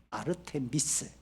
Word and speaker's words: 아르테미스: 원래이 아데미라고 하는 여신는 없죠. 아르테미스 아르테미스의이 다섯 글자를 우리 100년 전에 할아버지를 번역할 때 다섯 글자 너무 길다. 아데미 이렇게 줄어버렸습니다.